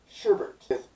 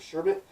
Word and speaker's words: sherbet: people have come to the conclusion that is pronounced sherbert a second are after the e how nobody